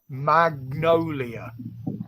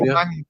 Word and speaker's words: magnolia: Oh yeah, now pronounce it right. Magnolia. Yeah. I always say Mangolia.